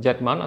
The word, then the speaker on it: Z: Mirrorless system named Z-mount (pronounced Zed or Zee mount) One of them is Nikon Z50 We will learn what are the main features of this Nikon Z50.